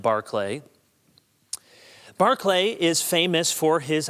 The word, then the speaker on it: Berkeley: looks to us like Berkeley and the school in California was named after George Berkeley we would say but pronounced Barclay Barclay is famous for